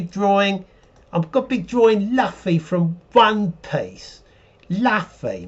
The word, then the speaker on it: Luffy: i'm gonna be drawing i'm gonna be drawing luffy from one place la fey may lafay the